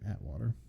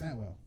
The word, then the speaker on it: Atwell: I think that's how you say her name, Atwater, or Atwell. It's Atwell.